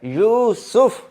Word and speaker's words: یوسف: ہے اور سین کے اوپر بھی پیش ہے، یوسف۔ تو اس کا جو تلفظ ہے آئندہ سے آپ یوسف ہی بولیں، YOOSOF، یوسف۔ اچھا جی، اگلا لفظ حضرت زکریہ علیہ